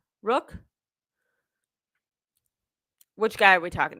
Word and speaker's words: Rourke: His last name is pronounced Rourke.